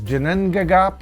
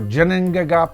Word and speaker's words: Ginnungagap: going to cover is Jinan gagap or Janine gagap I've heard it pronounced both ways and of course the